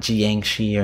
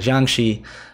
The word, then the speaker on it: Jiangshi: I probably am not 100% getting the pronunciation right, but I know I'm not butchering it. Not Jiangshi or anything like that. Jiangshi.